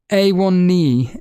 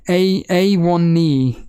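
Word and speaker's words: Onana: I would A1 knee. A1 knee is what Max Roberts is saying. That's how you pronounce his name.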